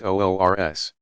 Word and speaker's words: Urs: The occasions are sometimes referred to as the saint's wedding day, URS, pronounced OORS.